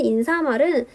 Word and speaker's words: 인사말: 궁금해하는 친구들이 많았는데 사실은 인사말은 표준 발음 자체가 인사말입니다. 즉 다시 말하면 사이소리 현상이 일어나지 않는 단어예요.